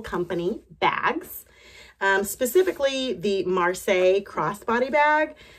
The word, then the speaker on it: Marseille: bags um specifically the Marseille crossbody bag I believe that's how you say it at least that's how you say it in French um for us Americans it may be the marisel bag but this is the